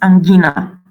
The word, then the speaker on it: angina: Don't pronounce as J. See here, you know, angina, the disease in Latin is angina.